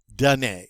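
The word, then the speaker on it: donner: and do that done done a remember that er at the end of the infinitive it's always pronounced a dune and what is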